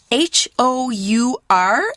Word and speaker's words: hour: It's spelled H-O-U-R, and it's hour.